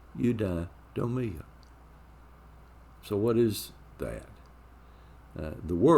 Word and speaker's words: eudaimonia: It's eudaimonia. So what is that? The word is a combination of two Greek words, eu, it's spelled E-U, and daimon, D-A-I-M-O-N, eudaimonia.